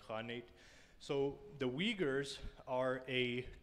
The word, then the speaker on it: khanate: uh uyghur khanate right it says cognate but it's it's really pronounced honey so the uyghurs are